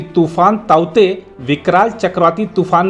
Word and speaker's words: Tauktae: आईएमडी के चक्रवाती चेतावनी विभाग के अनुसार इसका उच्चारण ताउते है।